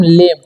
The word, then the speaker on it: lame: इसे पढ़ेंगे हम लेम, क्योंकि यहाँ पर भी देख रहे होंगे कि यहाँ पर दो वोवेल है और एक जस्ट बाद कॉन्सोनेंट है फिर वोवेल है, तो यहाँ पर ए का उच्चारण ए हो जाएगा, ठीक है, तो लेम पढ़ेंगे।